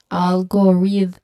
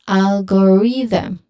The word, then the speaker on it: algorithm: Remember the th sound should be voiced. And how we can um how we can check that is we just feel the vibration in our throat. If it vibrates again it is voiced.